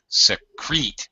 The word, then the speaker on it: secrete: Secrete. I know the noun without ing by itself is secret. The verb has an E on the end, so that changes the sound to secrete.